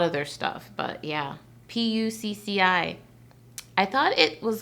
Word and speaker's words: Pucci: um a lot of their stuff but yeah p-u-c-c-i i thought it was like pronounced something lewd back when i was in